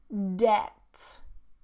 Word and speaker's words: debt: The next one, debt. Debt. No B at all.